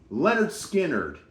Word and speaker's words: Lynyrd Skynyrd: Leonard's Aerosmith self-titled debut album from 1973 versus Lynyrd Skynyrd. Now, they call this album pronounced Lynyrd Skynyrd.